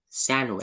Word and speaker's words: sandwich: Walang D. Sandwich. Sandwich. Hindi siya sandwich. Sandwich. Sandwich. Tanggalin mo, hindi mo babasahin Sandwich. yung D. Yes. Can I order a chicken sandwich, please? Yes, sandwich. Sandwich. Huwag mong pronounce yung D.